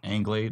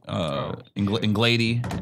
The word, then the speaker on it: Anglade: So like my last name, American last name is Anglade. That's the correct way to say it. But when white people read it, it would go Anglade, Anglade, Inglady.